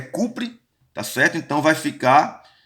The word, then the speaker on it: cobre: Então, hidróxido, a pronúncia do cobre é cupre, tá certo?